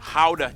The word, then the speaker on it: Gouda: nation, Gouda cheese. Yep, that's how you pronounce it, guys.